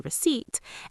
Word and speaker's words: receipt: Exactly We’re going to cover the Final Sweep of the room the Invoicing process (including the silent 'P' in Receipt!), and how to manage your luggage We’ll also talk about the Shuttle and the Concierge right?